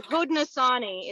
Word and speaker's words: Haudenosaunee: Haudenosaunee is how you say that.